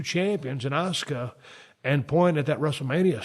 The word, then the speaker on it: Asuka: And finally, you know, when it was all said and done, Asuka, well, I always pronounce her name wrong, Asuka.